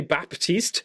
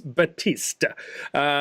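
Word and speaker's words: Baptiste: owl so it is there's no P you don't pronounce the P it's Battista so anyway I know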